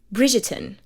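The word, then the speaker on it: Bridgerton: Bridgetton. That is how it's pronounced. Now it may sound a little bit difficult to pronounce, but just think about it. Bridget Bridgeten britten. Try to separate it that way and you will be able to pronounce it in perfect English accent.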